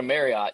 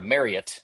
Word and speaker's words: Marriott: Apparently apparently when you stay at a Marriott you have to uh or Marriott as I've been told.